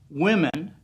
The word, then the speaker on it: women: GH when you say women w-o-m-e-n women the O makes that short I sound eh women it's an